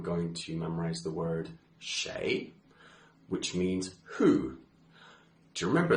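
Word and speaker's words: 谁: Doctor Who from the TV show for the pronunciation Shay and now this is a difficult one because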